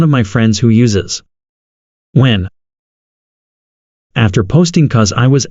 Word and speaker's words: Nguyen: She took care of any awkwardness by introducing herself first and said it's pronounced when.